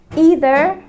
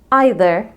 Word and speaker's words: either: ورابع زوج من الكلمات هنعرف الفرق بينهم هما either and neither. الكلمتين دول ازاي ننطقهم؟ هل either neither ولا either neither؟ الحقيقة الكلمتين دول لو نطقناهم بالطريقتين فإحنا صح.